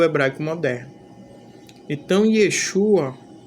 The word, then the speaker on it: Yeshua: Eu me deparei aqui com alguém nos comentários que disse que a pronúncia original do nome do Messias não é Yeshua, mas Yahshua.